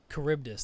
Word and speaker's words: Charybdis: Charybdis, that's how you pronounce the creature's name.